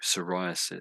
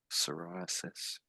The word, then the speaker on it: psoriasis: obviously a medical issue psoriasis. So the P is silent. You could say psoriasis.